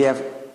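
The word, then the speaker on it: حاء: And then we have Ha. So this Jim is like a J. And this Ha is like not H, but a kind of H from throat. Something comes out from throat.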